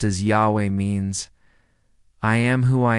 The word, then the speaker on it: Yahweh: The sacred tetetrogrammaton pronounced as Yahweh means I am who I am or I will be what I will be.